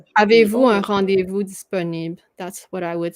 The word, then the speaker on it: disponible: So you say disponible. Yeah, and then you kind of ended there. Disponible. I can hear the L. Yeah, you still say this last syllable, but you don't say the E, so it's kind of short for disponible.